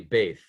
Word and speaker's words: Beth: Beth here over there that's really bth is how it's pronounced and then if we